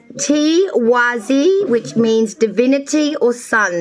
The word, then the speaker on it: Tiwaz: It's pronounced Tiwazi, which means divinity or sun.